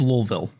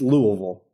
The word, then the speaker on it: Louisville: It's Louisville. Oh. it's Louisville.